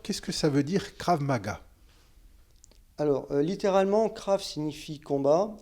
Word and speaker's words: Krav Maga: Alors ce soir, nous allons faire connaissance avec toi et ton rôle au sein du club de Krav Maga. Je prononce bien Krav Maga?